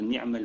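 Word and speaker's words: نعمة: Donc je dis bien Hasbunallah wa ni'mal wakil. Barakallahu fikum, Cheikh. Je confirme. Wa ni'ma al-wakil. Ni'ma al-wakil. Ni'ma avec A. Comme une ni'ma.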